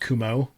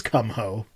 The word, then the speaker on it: Kumho: Progress Only is trying to rain on this parade by saying it's pronounced Kumo. Uh, It's spelled Kumho. I'm sorry, it's Kumho.